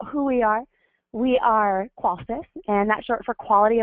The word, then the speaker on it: Qolsys: stands for systems and it's pronounced just like quality the first first part of quality so it's qualys and we are dedicated